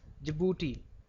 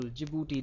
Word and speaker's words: Djibouti: And then four is Djibouti. Do remember the spellings here. Be careful. Djibouti.